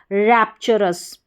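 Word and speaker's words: rapturous: R जुड़ गया तो रस, R को हटा दिया तो अस, और TU को इस तरीके से बीच में आता है तो मोस्टली च करके इसको पढ़ा जाता है।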